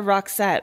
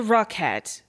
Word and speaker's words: Rockette: It's a Rockette. They're not even saying it right.